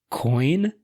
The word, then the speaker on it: quoin: few of them, and one of them is coin. Also sometimes pronounced quoin, apparently, according to the Oxford Dictionary.